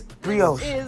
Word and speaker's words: brioche: That's brioche bun.